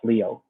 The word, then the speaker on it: Lyot: objective it's called a leo stock this lyot is a french word pronounced leo so what we did